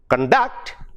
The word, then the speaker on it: conduct: But when it which is a noun or an adjective, when it comes to conduct, the second syllable stress, it becomes a verb.